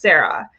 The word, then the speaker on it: CERA: The first is the COVID Emergency Rental Assistance, which is abbreviated to CERA, pronounced Sarah.